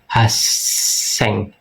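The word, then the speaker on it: 八千: Kalau 800 kita ada haseng. Haseng double s haseng. Haseng.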